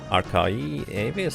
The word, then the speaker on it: ArchaeoAvis: Archae would be pronounced as you said it first, like Archie. Archie.